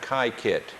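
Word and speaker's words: Kykuit: the thing that prompted the whole tour was kaiit and this is spelled KY k UI and they pronounce it kaiit it's home of the Rockefellers uh and it's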